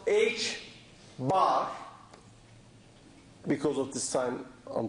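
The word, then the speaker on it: ħ: one also later in the course this is pronounced h bar because of this time on top this is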